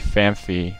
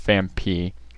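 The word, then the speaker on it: Phanpy: I used to call Fampi Famfi, which everyone seems to do nowadays, but it is pronounced Fampi.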